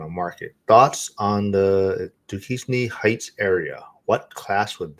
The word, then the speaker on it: Duquesne: Thoughts on the Duquesne Heights area? What class would this be? Am I saying it right? What area? uh Duquesne. Oh, D Duquesne.